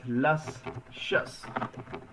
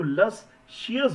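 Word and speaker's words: luscious: ये word pronounce करने में इतना स्वादिष्ट लग रहा है। लसशस। लस शस। बहुत से लोगों की गलती होती है कि वो लस शियस बोलते हैं। तो लसियस नहीं बोलना है।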